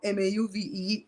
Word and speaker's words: mauve: or move all right move so so mob okay Jasmine help us out is Mob m-a-u-v-e the way I'm saying it right now mauve is that French and then move is something else what the hell what the